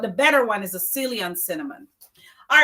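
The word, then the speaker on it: Ceylon: And you have to get the salon cinnamon. It's spelled C E Y L O N. Cinnamon. I mean, you could use a cinnamon in your house, but the better one is the silon cinnamon.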